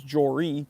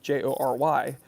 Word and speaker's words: Jory: My name is Jory, Jory, but people close to me tend to say Jor, Jor.